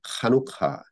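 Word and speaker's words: Hanukkah: 유대인들은 그 시기가 비슷하게 겹치는데 해피 하누카라고 말합니다. 이제 메리 크리스마스 그렇게 안 해요. 해피 하누카 이렇게 이제 이게 강하게 발음돼서 이제 카누카 이런 식으로 발음되는데 해피 카누카.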